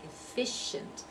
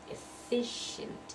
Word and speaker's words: efficient: then this last one efficient now here again the CI is pronounced SH efficient and noticed you don't hear an e sound there they are int again